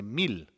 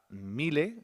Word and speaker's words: mil: Mais 1000, en espagnol, c'est 1000. Attention à la prononciation, je ne dis pas mille, je dis 1000. M-I-L.